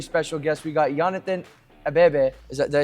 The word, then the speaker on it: Abebe: We got Yonathan Abebe. Did I say it right? Abebe, yeah. Abebe. Yeah. It's like bebe.